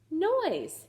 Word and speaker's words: noise: sound this out and that's a silent e so we're not going to pronounce it noise you got it we've